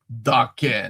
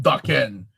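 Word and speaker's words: Daken: Dakin. Vicky cooking. Dakin. Dakin. Okay. Dakin. It's a Japanese word. Oh, okay. It means, wait, that actually really helps. I didn't know that. Dakin.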